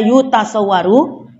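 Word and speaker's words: يُتَصَوَّرُ: Kita baca seragam aja ya. Karena di awal tadi sudah kita baca yutasawwaru yang bermakna la yudriku, ya. Maka dibaca seterusnya dengan dhammah. Wal mustahilu huwallazi la yutasawwaru.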